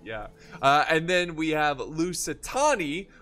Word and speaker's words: Lusitani: And then we have Lusitani, which I used to pronounce Lusitoni, you know, like, ah, Lusitoni, you know, Lusitoni's here.